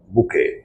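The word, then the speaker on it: bouquet: फूलों का संग्रह बुके प्रोनसिएशन होता बुके बी ओ यू क्यू यू ई टी T silent बुके बुके का शाब्दिक अर्थ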